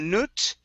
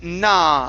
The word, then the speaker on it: not: next we have um the word not instead of nut okay it was not the materials try that it was not no matter okay instead of nut it's nah open your mouth up and pronounce an ah there so it was not